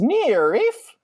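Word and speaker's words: NIIRYF: found on twitter at n-i-i-r-y-f-pod and those are the letters for not if i beat you first they're pronounced near reef beyond that uh me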